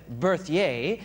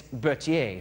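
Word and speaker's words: Berthier: by the name of I said berier and last night Jason said it's Bertier so I I apologize for saying it wrong a French General by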